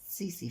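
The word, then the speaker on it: tsetse: सीसी फ्लाई, T silent, सीसी फ्लाई।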